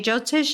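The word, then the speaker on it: Jyotish: and then get into the um jotish is that how you say it yes yes the viic astrology jotish is like the the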